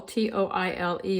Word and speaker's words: toile: So Toile, T-O-I-L-E, is pronounced T-W-A-L-L, Toile.